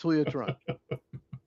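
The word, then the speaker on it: Julio Teherán: You can keep mispronouncing if you want, but it's Julio Tehran.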